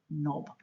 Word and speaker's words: knob: to grab hold of K is the silent letter in the word knob words that have silent